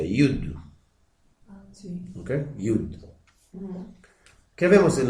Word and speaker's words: יוד: Es la palabra, como se pronuncia, Yud.